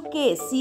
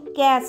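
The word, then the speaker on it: case: যেমন এখানে দেখতে পাচ্ছ কে সি এ কেস হবে ক্যাস হবে না সেরকমই লেক টেক মেক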